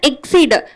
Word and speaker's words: exceed: ரெண்டாவது வார்த்தை என்னன்னு பார்த்தீங்கன்னா எக்ஸீடு. இது அக்சீட், இது எக்ஸீடுன்னு உச்சரிக்கணும்.